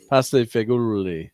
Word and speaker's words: pasta fagioli: Pasta fagioli.